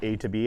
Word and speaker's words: Atob: It's pronounced A2B, as in we're allowing trucks the ability to go from point A to point B.